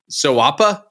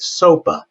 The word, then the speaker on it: SOAPA: And so as we're looking at SOAPA, and tell me if I'm pronouncing that right in 2025, soapa. Soapa. Soapa. Soapa, not soapa. All right. Well, I kind of like sawa, but you know it's like kind rhymes with koala, right?